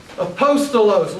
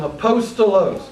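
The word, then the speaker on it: ἀπόστολος: The first word is aposttolos. Aposttolo. It is the word that we get our English word apostle. Aposttolo.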